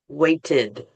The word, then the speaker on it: waited: Waited. Mhm. So again, spelling is ed if you're writing it, but if you're pronouncing it, waited.